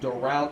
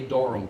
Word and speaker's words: Doral: Like Doral Chamber, they'll say Doro Chamber.